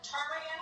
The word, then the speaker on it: ptarmigan: We got bears, beluga, ptarmigan with a silent E.